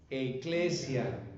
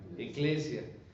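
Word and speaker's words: ἐκκλησία: hemos dicho Cómo se dice iglesia en griego eglesia eglesia sí que lo he comentado en otros momentos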